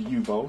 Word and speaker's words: Uebo: that thing that looks pretty sick uh it's pronounced yubo so I got that right it has Play